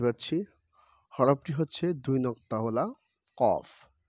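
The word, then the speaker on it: ق: ফা ফা ফা ফা ফা ফা এখানে যে হরফটি দেখতে পাচ্ছি হরফটি হচ্ছে দুই নক্তাওয়ালা কফ এ কফ হরফটি ভালো করে উচ্চারণ করতে হবে জিহ্বার গোড়া তারবার উপরে তালুর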